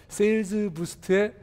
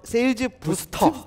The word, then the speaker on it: 세일즈부스트: 세일즈 부스터 트입니다. 트예요? 네, 네. 트입니다. 예. 이 부스터로 예, 네, 알겠습니다. 사실 법인 설립 직후에 이름이 ER이 붙으니까 발음이 길어서 네. 피드백을 받아서 예. 설립할 때 바꿨습니다.